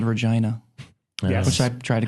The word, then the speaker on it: Regina: and prep, and then they were calling it Regina, and I was like, it's Regina. And so, right about the time we wrapped, we had all accepted. It's the city that rhymes with fun, is what they call it.